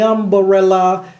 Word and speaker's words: umbrella: Par exemple, dans Umbrella de Rihanna, elle ne dit pas umbrella de façon plate. Elle fait exploser le BRE, parce qu'il tombe pile sur la batterie. You can stay under my umbrella, Ella, vous voyez umbrella, ok?